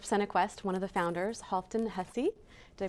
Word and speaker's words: Halfdan Hussey: Today I have a leader in the arts, in theater and film, and the founder of Cinequest, one of the founders, Halfdan Hussey. Did I pronounce it right?